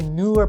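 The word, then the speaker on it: Neewer: You could go with the newer professional 61-inch tripod for only $119.99. How do you say that? It sounds so Scandinavian, spelled N-E-E-W-E-R. Newer!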